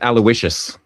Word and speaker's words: Aloysius: I think you pronounce that Aloysius.